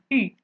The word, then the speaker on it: 妪: 家有老妪，常居于此，家里面有一个老妇人，这个字念成妪，家有老